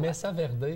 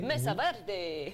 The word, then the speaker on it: Mesa Verde: Est-ce que je le prononce comme il se doit? Mesa Verde. Mesa Verde.